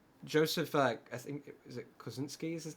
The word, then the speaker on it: Kosinski: like Joseph, I think is it Kosinski is his name. I might be butchering how you pronounce that. Kosinski, yeah.